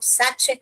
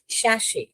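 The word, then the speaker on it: sachet: Sound और यहां पर इसे बहुत लोग सच करके पढ़ते हैं। यह साक्ष नहीं है। इसको कैसे प्रोनाउंस करते हैं? शश श और यहां पर श ओके यह श वाला यह टी जो है यहां पर नहीं पढ़ना है आपको साइलेंट है शश पढ़ना है कैसे पढ़ोगे गिव मी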